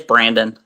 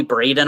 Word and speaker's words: Brandon: me tell you pencil what's your first name it's Brandon okay that's what I thought yeah I want to say it wrong because usually I call Aubrey Ashley and I did good tonight no it's all good I have people call me Braden all the time and yeah it's